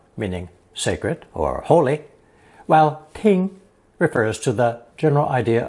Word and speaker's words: 听: This new character is pronounced first tone. Ting, ting.